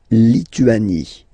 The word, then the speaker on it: Lituanie: La Lituanie. Remember in French, sorry, H doesn't exist, okay, so you don't pronounce it, and it's Lituanie, Lituanie, la Lituanie.